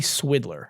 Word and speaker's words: Swidler: The chief financial officer and president of Tinder's parent company, Match Group, Gary Swidler. I mean, just sounds like, it almost sounds like Swindler, right? And rhymes with Twitter and Tinder.